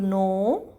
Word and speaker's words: know: grow, THROW, throw, KNOW, no. In no, there is K is silent here, so we will say only no.